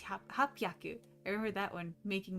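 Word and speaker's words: 八百: And then instead of hachhyaku, it's hapyaku.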